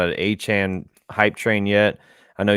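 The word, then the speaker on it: Achane: Moister went off for me in fantasy, but A-Chain. A-Chain. A-Chain. He put in something to get his name pronounced correctly. No, it's after this game. A-Chan.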